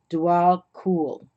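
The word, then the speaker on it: Djwal Khul: About pronounced Dwal Kul.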